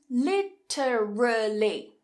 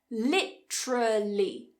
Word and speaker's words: literally: And literally, literally, 4 syllables. If we cut one, literally, literally. Now what's happening is that t and r together is creating more of a ch sound.